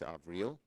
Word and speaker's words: Avril: In addition to Tony Blinken and Avril Haines, she corrected my pronunciation, it's Avril, President-elect Biden continues to roll out an impressive slate of nominees to his cabinet and other key administrative positions.